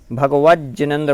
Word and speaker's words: भगवज्जिनेन्द्र: भगवत जिनेन्द्र भी कहीं कहीं पढ़ने में आता है, भगवज्जिनेन्द्र, भगवन जिनेन्द्र।